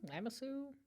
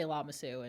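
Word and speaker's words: Lamassu: I say lamasu. You're the one who listens to it. Well, I wasn't sure if you would pronounce it differently. They say llamasu in the audio book. Llamasu. Lamasu. I feel like it's tomato tomato.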